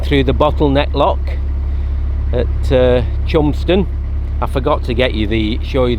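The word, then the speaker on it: Cholmondeston: You wouldn't believe it's pronounced Chumston.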